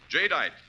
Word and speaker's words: jadeite: stores selling chinaware and glass remember the name jite that's spelled j a d i t jite the